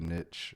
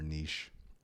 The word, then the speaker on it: niche: it's just sort of niche I guess or niche yes because there's no T in it actually both both both pronunciations are acceptable from an English